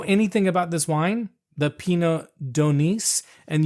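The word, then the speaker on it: Pineau d'Aunis: So now I don't know anything about this wine, the Pinot d'Aunis, and you do pronounce the S.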